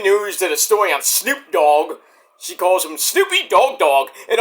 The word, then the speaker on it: Snoop Dogg: And we had to tell her, like, "You said Snoop Dogg's name wrong. You said Snoopy Dogg Dogg."